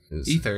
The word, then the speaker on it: Aether: The Aether. Ether is how you pronounce it.